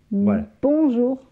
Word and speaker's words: bonjour: prononciation s'il vous plaît ne prononcez pas le n c'est une nasale o et n forme la nasa un bonjour bonjour on n'entend pas